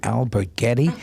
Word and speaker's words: Alberghetti: at patrio theater with one and only Anamaria Albert Getty pronounce that so perfectly it really said it good